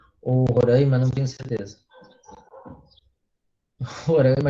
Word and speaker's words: Roraima: Roraima a gente fala assim, né, com A fechado, eles falam com A aberto, isso vai dar um certo conflito de pronúncias.